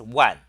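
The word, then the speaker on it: 卍: Uh, in fact, in this character in Chinese is pronounced one, one, like WAN. That's the pronunciation of this character.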